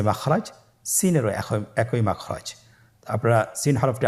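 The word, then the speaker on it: سين: Scene হরফটি বারিক হরফ পাতলা করে উচ্চারণ করতে হবে। তাহলে আমার সাথে বলুন সিন আবার বলুন সিন মাশাআল্লাহ আপনাদের হচ্ছে আলহামদুলিল্লাহ আপনারা চেষ্টা করুন।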